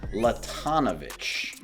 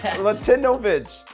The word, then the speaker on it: Latinovic: There was no Latino in there at all. Yeah. Latinovic.